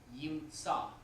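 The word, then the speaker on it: יִמְצָא: In this paradigm, yimtsa, right? We only pronounce the comments under tzadeh, but the aleph is quiescent, which means silent.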